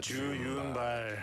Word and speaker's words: 주윤발: Oh, that's how you pronounce his name. In Korean, they're different, right? Yeah, I always called him. I always called him like Chow Yun Fat. Yeah, that's the English pronunciation.